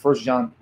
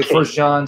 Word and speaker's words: 1 John: Is it like 1 John? Is that how you say it? We say the first epistle or the first letter of John, 1 John. So for short, we say 1 John, 2 John, 3 John, 1 Corinthians.